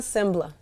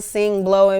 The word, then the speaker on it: Sengbloh: how you pronounce it seon sbla s sbla yeah like the g is silent s s seon sbl uhuh oh now I know SE some people will say seon sing blow like oh she can